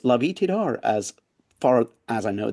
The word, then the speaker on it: Lavie Tidhar: A writer has agreed to talk to me, and it's Lavie Tidhar, as far as I know, that's how to pronounce it.